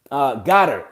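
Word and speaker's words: Goedert: Goddard.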